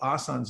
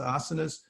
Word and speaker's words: asanas: is actually historically asanas that we people call asan's nowadays it's actually pronounced asanas but they're these are a place where you